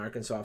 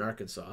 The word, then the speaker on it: Arkansas: stuck thus would provide we pronounce the last s in Kansas but not in Arkansas okay who had the